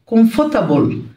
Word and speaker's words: comfortable: أو lovely مريح comfortable مش بنطق الار comfortable مزدحم busy ضخم huge.